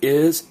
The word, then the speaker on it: hay: And it's pronounced I. And some of you are thinking, well, why isn't the H pronounced? Remember, guys, there's only one silent letter in the Spanish language. What is it? That's right, H.